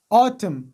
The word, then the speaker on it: autumn: مثلا autumn دلته ل ان نه مخکې ام راغلی ده نو د دې په خاطر ان نه تلفظ کیږي او ام تلفظ کیږي.